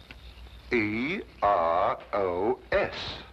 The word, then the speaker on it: Eros: Then spell it as she spelled it, but without the H. E R O S.